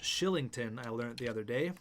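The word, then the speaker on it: Kylington: Oliver Killington, which is actually pronounced Shillington, I learned the other day.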